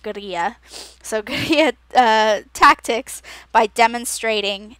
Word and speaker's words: guerrilla: And they would employ gorilla, so, or I suppose technically it's pronounced guerrilla, so guerrilla tactics by demonstrating in public, putting on performances, and placing posters and flyers in public locations.